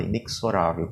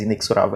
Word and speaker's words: inexorável: né tá mais bonita a gente pronunciarem ele errado inexplorável mas inexorável Amém exorado pronuncia o